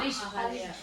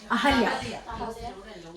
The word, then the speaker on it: Ahalya: Ahalya. Ahalya.